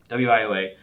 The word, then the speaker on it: WIOA: anything about wioa uh I didn't even pronounce it like that I figured how I should pronounce the federal law federal law uh yeah wioa and I I was